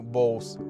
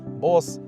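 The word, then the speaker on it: Bose: Mazda вже дуже давно співпрацює з американською компанією Bow. Так, вона вимовляється саме так. Не Bos, не Бозе, не Bos.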